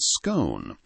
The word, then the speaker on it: scone: We see this same friction in the debate over the pronunciation of the word scone. Whether it rhymes with gone or cone is not just a matter of phonetics in the UK.